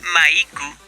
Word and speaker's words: Maiku: pendejadas, pero que estas se refutan con la pronunciación en japonés del nombre, porque cuando uno dice Maiku, ya pierde la connotación masculina del nombre Mike.